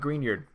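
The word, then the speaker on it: Grignard: green iord right so thing about green yard are grig nard as the French decided to spell it it is a very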